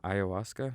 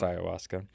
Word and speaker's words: ayahuasca: last couple off seasons is that you pronounce it i think so ayahuasca i thought it was akka or like i think it's ayahuasca which if you don't